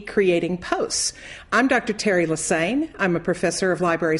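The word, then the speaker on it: Lesesne: doesn't look like leaine just remember it rhymes with insane I've been a professor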